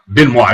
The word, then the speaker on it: Benoit: Beniot. Benoit. That's one of those Louisiana names.